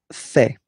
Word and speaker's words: fais: Je fais. Je fais. Remember, final S not pronounced.